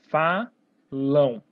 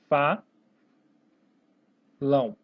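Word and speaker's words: falam: Fa. Lão. Falão. Tem um som de O. Esse M acaba tendo som de O.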